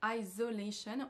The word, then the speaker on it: isolation: de prononciation suivante c'est de mélanger le son S avec le Son Z dans le mot isolation on a donc un son S mais monsieur Macron va le prononcer avec un son Z même si l'intervieweur juste avant le prononce de la bonne façon isolation au lieu de isolation on va écouter